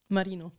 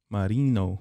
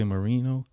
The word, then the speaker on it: Marino: what's your last name marino marino you gotta say it like that can't just say mourinho are you german